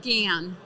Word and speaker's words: GaN: to develop it and it's called gan technology it's the next level of silicon i spell it again g a n so capital g a a a small a and capital n and so um the